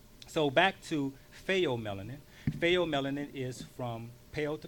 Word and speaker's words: pheomelanin: So now the second melanin is called pheomelanin, which is spelled P-H-E-O.